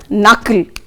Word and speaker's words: knuckle: The first rule children, K is silent before N. For example, see the word knuckle, there the K is silent.